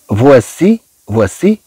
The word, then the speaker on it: voici: كما رأينا فيما سبق بأن أوي تنطق و. ثم عندنا هاد السي. عندنا السي من بعد منها إي. طبعا ستنطق كأس. هاد السي بعد إي تنطق كما عندنا أس إي. إذا طبعا سنقول فوا.